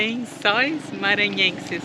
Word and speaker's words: Lençóis Maranhenses: I didn't butcher the names, no? No, Yeah. Lençóis Maranhenses, but I know it's not easy to pronounce.